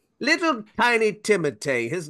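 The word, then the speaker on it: Timothée: basically every time goes It's pronounced timate but you can pronounce it honestly however you want you can call me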